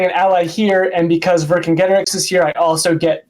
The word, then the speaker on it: Vercingetorix: Vercingetorix. Vercingetorix, yeah. The main thing is that the C is always hard for Celtic languages.